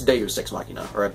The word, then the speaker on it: deus ex machina: the poem i'm pretty it should be deuce no it's deus ex machina i probably mispronounce it